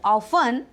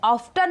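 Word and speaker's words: often: है देखिए कि आई ऑफें गो टू मुंबई आप उसे ऑफ्टन मत पढ़िए टी साइलेंट हो जाता है ऑफ पढ़ा जाता है आई ऑफ गो टू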